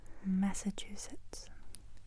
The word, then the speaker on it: Massachusetts: Massachusetts Massachusetts 1 2 3 4 Sllab Massachusetts Massachusetts Boston Massachusetts Tiffany